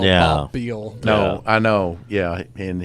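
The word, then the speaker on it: Beihl: His name is Bob Beal, and it's spelled B-O-B-B, and then the last name is spelled B-E-I-H-L. Okay. That is not how I would think you'd spell Yeah. Bob Beal.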